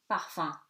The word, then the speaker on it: parfum: except in the word parfum, gives you homme with a short O. So album, at the end of the word, exception for this word which is parfum and which becomes nasal.